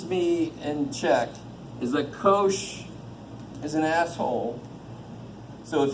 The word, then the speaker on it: cosh: They got a little h in them for the hyperbolic, and we pronounce this sinh and cosh.